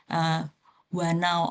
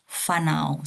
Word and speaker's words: whānau: So in Te Reo Maori, if you see W and H, you don't say wanau or hanau, but it's pronounced like F. I'm still practicing also, so maybe I'm wrong, but I usually heard people saying it fanau. So if you have W and H, it means it pronounced like F, so it's fanau.